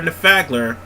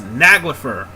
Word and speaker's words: Naglfar: But whatever the case, folks, we just gotta wait for Nafagler. Okay, it's Naglfar. Naglfar.